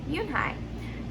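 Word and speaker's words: Unhei: it's spelled u n h e i it's pronounced yoonhai oh it's you hey the boy said like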